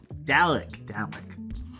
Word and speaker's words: Dalek: Good morning, Dalek. It's like Dalek Baldwin. That's how you have to remember how to pronounce the recurring villain in Doctor Who.